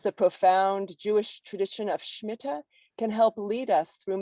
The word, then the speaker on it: Shmita: pronunciation for Shmita is Shmita. I have been using the Ashkenazic pronunciation Shmita, but I wanted to highlight the Sephardic pronunciation Shmita.